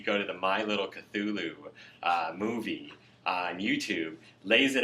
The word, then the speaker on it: Cthulhu: I believe that there is a culture that has a Cthulhu, and I'm trying to remember. It's spelled or pronounced more like Kutuluu.